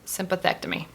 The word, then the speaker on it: sympathectomy: to look at it endoscopic thoracic sympathetic sympathetic sympathectomy that's a big one sympathetic me that's five syllables no wonder anyway i digress endoscopic thoracic sympathectomy nailed it and what this surgery